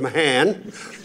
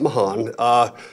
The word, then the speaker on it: Mahan: Father Mahan, George Mahan, I want y'all to pronounce that right. Not Mahan, was the first Jesuit I met on campus.